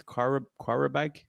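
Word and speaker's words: Qarabağ: So the first team we got drawn up against is a hard one to pronounce, but I think it's Qarabag from Azerbaijan. Yeah. Coming Qarabag.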